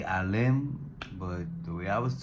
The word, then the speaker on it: Alim: You spell it as a l i m. Some people say alim, but the way I was taught alim. So pronunciation is a l e e m alim.